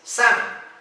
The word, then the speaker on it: salmon: Well, in English, la L no se pronuncia en esta palabra. So it's not salmon, it's salmon.